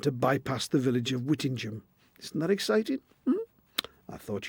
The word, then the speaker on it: Whittingham: Such names are common all over the country, and they're usually pronounced Ingham, like in Birmingham. Only in Northumberland does the pronunciation change and become Ingham, as in Whittingham, or indeed Edlingham.